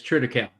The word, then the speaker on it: triticale: Is it critical? I think is how you pronounce it on the East Coast, or is it different? Yeah, it's triticale.